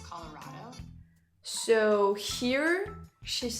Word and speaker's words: Colorado: out if you say colorado it's colorado so here she's saying colorado and it's colorado which is the fact that you are emphasizing the rao and for for her it's just raw it's not colorado how